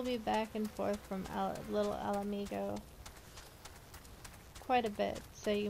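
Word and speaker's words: Little Ala Mhigo: And before you correct me on the pronunciation of Little Alamigo, yes, that is how it's pronounced. Trust me, you'll hear it plenty enough later. Why does it say I'm not growing the right way? Little Alamigo.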